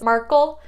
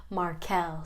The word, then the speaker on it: Markel: this list she said some people might see it as markle and that's way way less sexy than the best version markelle so let's go with